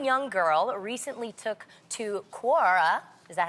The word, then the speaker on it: Quora: And one young girl recently took to Quora, is that how you say it? Yeah. Quora, to get some advice on her first bra,